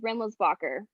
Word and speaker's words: Rendelsbacher: Yeah, it's just like it sounds, well, it's like it spells, Rendelsbacher.